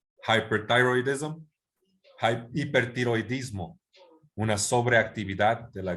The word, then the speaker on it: hyperthyroidism: Entonces dices primero hyper, después thyroid y después ism. Y cuando lo dices rápido dices hyperthyroidism.